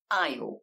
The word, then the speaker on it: aisle: in the middle and the word aisle with a Simon s in the middle it can be really